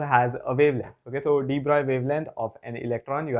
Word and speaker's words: de Broglie: Coming to our next set of questions, in question 3, which is from 2006, you are asked for the de Broglie wavelength. Yes, I pronounced that right.